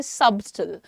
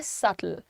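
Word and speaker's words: subtle: इसमें बी जो है हमें क्लियर दिखता है। तो कभी-कभी जिन्हें नहीं मालूम होता वो कहते हैं सबटल। लेकिन सबटल नहीं है इसका प्रोनंसिएशन। इसका प्रोनंसिएशन है सटल।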